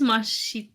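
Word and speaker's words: ます: yeah so it is Mas but it's generally pronounced that Mas is pronounced very quickly and concisely so m m yes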